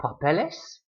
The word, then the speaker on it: papeles: Same way with papel. If you make it plural, papeles. Now it ends in an S, but you've added a syllable to the end, so it's the same syllable that gets stressed.